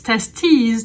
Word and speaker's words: testes: if you're mentioning to its testes testes te it's a little bit like a potus's and hypotheses so single testers and